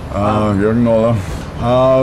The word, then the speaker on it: Jürgen Knöller: It's spelled J-U with umlaut, R-G-E-N, K-N, O with umlaut, L-L-E-R. Jürgen Knöller.